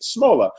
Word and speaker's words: Shmola: Yes, in reply to me trying to pronounce her last name, Lisa says, haha, no, it's Shmola, like the intro of Laverne and Shirley.